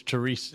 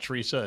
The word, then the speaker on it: Therese: It's Therese, not Teresa.